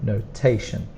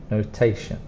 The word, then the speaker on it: notation: t-i-o-m and for pronunciation the strong sound is on the second sound notation notation so together scientific notation